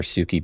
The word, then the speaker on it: Suki: I know some of you guys are apt to call her Suki because that's how it's pronounced in the show. How it's pronounced in the show is kind of wrong.